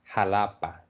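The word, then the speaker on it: Xalapa: go through the Mexican Eis examples Alejandra Hala halapa Mexico Mexico theas so that's something you really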